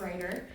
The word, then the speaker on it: Rajir: bit I'm Ryder last name is spelled a little funky but it's a lot easier to say it's just Ryder um I am by